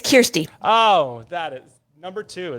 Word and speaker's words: Kirsty: youth development and emotional wellness of the group christie thank you so much for joining us great